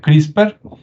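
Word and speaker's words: CRISPR: una que es crisper se escribe CR y spr y se pronuncia crisper Y usted puede investigar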